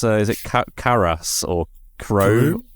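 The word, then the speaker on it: Karous: Obviously, how do you pronounce? Is it Karas or Karu? Karu, that's the one.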